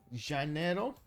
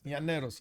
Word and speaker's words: Llaneros: By the way, Li in Spanish is pronounced Y, so it's Janeiro.